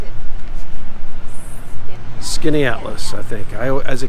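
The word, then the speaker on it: Skaneateles: beautiful light though skinny atlas skinats canada leaves skanatolys skinny atlas they pronounce it skinny atlas i think i as a kid like skinny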